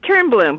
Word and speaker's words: Toernblom: Yes, it's Toernblom, but it's a Swedish name, so we forgive all Americans. Toernblom, okay.